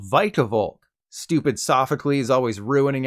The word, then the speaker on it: Vikavolt: about the speed stat I naturally called it vikavolt like veeamon imagine my surprise when I watched the anime and learned that nope it's actually called vicavolk stupid sophocally is always